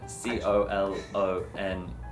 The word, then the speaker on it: colonel: that's how we say it kernel because it spelled like cook yeah yeah so it has that c-o-l-o-n-e-l i actually prefer the word colonel it sounds